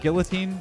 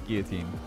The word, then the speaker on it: guillotine: guillotine right right not guillotine like i know that people say guillotine but i'm pretty sure it's guillotine i could be wrong but i swear it's a french word that is actually pronounced guillotine that's how i always